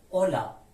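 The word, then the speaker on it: hola: میده مانند کلمه کچه اما اگه حرف اچ تنها نوشته بشه سایلنت است هیچ تلفظی نداره مانند الا به معنای سلام الا الا الا حرف بعدی ما ای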